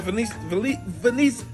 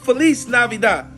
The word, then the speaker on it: feliz navidad: it's the same thing how do you say Merry Christmas in Spanish Merry Christmas oh yeah that's right Felice benice feliz feliz navidad I knew that in